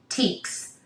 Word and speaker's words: Teeks: that make you feel closest to being barefoot teeks okay so t-e-e-k-s is how you spell it now good luck finding them um I'm